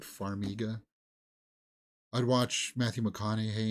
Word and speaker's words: Farmiga: more from her ver faraga she's also great Farmiga sorry that's how they pronounce it Farmiga I'd watch Matthew mccon